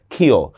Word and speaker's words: ক্ষয়: আচ্ছা, ক্ষীয় যদি শব্দের শুরুতে হয় তাহলে সেটার উচ্চারণ হয় খর মতো, ক্ষীয়। যেমন আমি একটা শব্দ বললাম দেখেন ক্ষয়, তো এটার উচ্চারণ কিভাবে হবে, খুব সহজ, ক্ষয়।